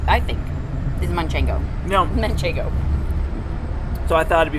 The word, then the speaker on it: manchego: uh-huh manchego yeah so for whatever reason everybody calls manchego manchingo yeah where did that come from that's the most um mispronounced cheese name i i think is munchango no manchego so i thought it'd